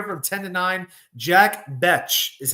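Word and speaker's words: Bech: Jack BCH is how you pronounce it. I've heard some people say Beck. It's actually BCH. It's uh I guess it's a French pronunciation, but also from TCU.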